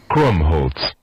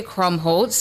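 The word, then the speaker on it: Krummholz: Crumb Holtz. Crumb Holtz. Crumbholtz. Crumb Holtz is your word of the day. Crumbholtz.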